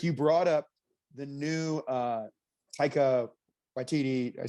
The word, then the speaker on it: Taika Waititi: But Rick, you brought up the new Taika Waititi.